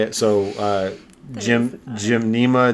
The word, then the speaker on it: gymnema: much how i would say it so uh jim jim nema gymnema sylvester silvestri um if you get you can't